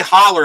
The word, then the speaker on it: Haller: I think it's pronounced Haller. Tom Haller. It's Hall like Hall. So I believe it's pronounced like Haller. I mean, you could say Holler if you want, but I think it's Haller.